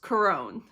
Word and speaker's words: Curon: Now the American in me wants to pronounce it Curon, but I know that that is incorrect and I'm probably still not pronouncing it correctly, but I think that it is pronounced Curon. At least that's what I was hearing in the show.